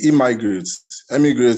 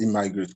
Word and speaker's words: Emigrate: So the emigrates, pronounced immigrate, provide tech-enabled visa opportunity for people in tech, either in technical side or business side of tech.